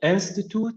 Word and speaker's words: institute: like the word institute, if you stress the first syllable, it's a noun. So institute is a noun. But if you say institute, institute, if you press the second syllable, it will become a verb.